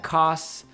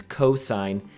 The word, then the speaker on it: cos: is our cosine ratio we abbreviate it cos we do not pronounce that cos or cos or cuz no that right there represents cosine and it will always